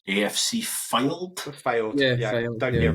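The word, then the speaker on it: Fylde: That club that Joe Cardle also played for that I don't know how to pronounce. AFC Filed? Filed.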